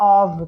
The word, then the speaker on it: of: A pronúncia é of, tá?